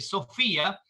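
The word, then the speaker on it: σοφία: del griego se lee sofía aunque se escribe ph pero se pronuncia como una efe sofía y significa que es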